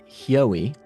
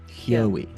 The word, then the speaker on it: Hyoie: So it's pronounced Hyoie, and it's the sound that the thing that trips people up is the beginning, right? So it's like Hugh, like Huey, and that HY sound, that Hya, but instead of a Hugh, it's a Hyo.